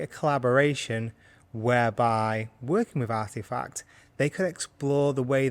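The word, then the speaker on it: RTFKT: believe the spelling is RT k f t pronounced artifact and they before the acquisition had some really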